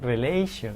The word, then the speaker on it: relation: Where's the stress? Will be in relation.